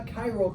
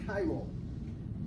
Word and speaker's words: chiral: It's also commonly called a chiral carbon. Please pronounce that correctly, chiral, not chiral.